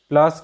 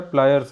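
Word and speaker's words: pliers: जैसे प्लायर्स हो गया, प्लायर्स को सामान्यतः जो है इसे गांव की भाषा में प्लास कहते हैं। तो आप प्लास से तो परिचित होंगे ही, तो इसे अंग्रेजी में सही उच्चारण इसका है प्लायर्स है।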